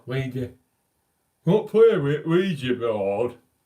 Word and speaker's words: Ouija: I've seen Ouija. That's how you say it in the north. That's how you say Ouija in the north. No, Ouija.